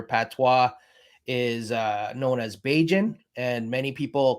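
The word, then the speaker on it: Bajan: is uh known as baijin and many people call um barbadians beijins throughout the island so it it sounds like cajun to me so i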